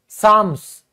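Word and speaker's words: psalms: दोस्तों, यह होते हैं जो दोहे वाले भजन होते हैं, कीर्तन एक तरीके से, उसको हम क्या कहेंगे? साम्स। पी साइलेंट होता है।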